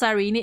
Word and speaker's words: Sirene: The way it's pronounced Sirene. Yeah, like just drop the last E.